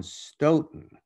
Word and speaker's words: Stoughton: It rhymes with dough and though, but not ought or thought.